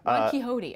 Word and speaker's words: Ron Quixote: Ron Quixote, okay. Yeah, it's like Don Quixote, but kind of the comic version I'll of it.